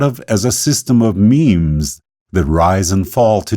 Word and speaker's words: meme: of Eden Dawkins also coined the term memes and told us the word rhymes with teams which back when I